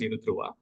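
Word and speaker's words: UNIDROIT: representative of Yuda for India unid drit it's pronounced as Yuda uh unoda is a body which is there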